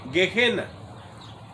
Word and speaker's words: Gehenna: En inglés no, suena como G-I-E normal y dice G. Y luego la H suena como J y dice Gehenna, que es el nombre